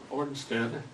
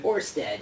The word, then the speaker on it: Ørsted: He is from Ornstead. Am I pronouncing that right? Orsted, yes. Orsted. Or I think if you're in Denmark, it's like Ørsted or something like that.